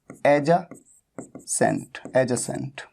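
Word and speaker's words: adjacent: एडजेसेंट, इसकी pronunciation होती है एडजेसेंट, एडजेसेंट। ठीक है, यहां पर डी साइलेंट होता है, तो ये आपको नोट कर लेना है।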